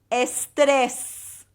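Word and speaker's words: estrés: so here we go the word for stress estess and end up with a fake smile when you say this word estess all right try it again and there's emphasis on the second e EST now I'm going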